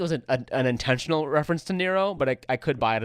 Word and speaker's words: Nero: This connection is strengthened, I feel, by the fact that Nero rhymes with zero and hero.